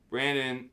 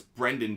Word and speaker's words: Brendan: the raise in just one second one second Brandon oh it's Brendan Donovan I'm even I'm spelling his name wrong so his it's Brendan by the way